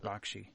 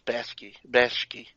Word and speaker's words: Bakshi: Ralph Bakshi, I think it's pronounced Bakshi. Bakshi? Yeah. I always thought it was Bashki.